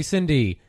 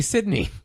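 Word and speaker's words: Cidney: And they're like, "Oh, hey, Cindy," and I was like, "Oh, they mispronounced her name. It's supposed to be Sydney." Yeah, and it's because they decided to call her Cindy in America. Sydney is a real name.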